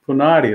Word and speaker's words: Punadi: Punadi, right? Rhymes with spaghetti, manicati. Ends with a vowel.